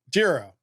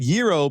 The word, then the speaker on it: Jiro: Now, how's it pronounced? Jiro. Okay. But I said gyro because I had a conversation about Greek food not but a few hours prior.